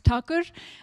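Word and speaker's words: Thakur: Uh so yeah, my name is and the right way to pronounce my surname is Takur. I don't expect you to pronounce it correctly though because it's a special alphabet from my language.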